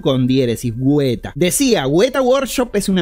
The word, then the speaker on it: Weta: por lo que no sé exactamente cómo se pronuncian estos caracteres en neozelandés, por lo que le diré... Weta, así con G y la U con diéresis, Weta.